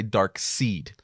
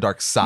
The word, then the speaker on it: Darkseid: amount of people that say dark seed instead of Darkseid yeah I've heard people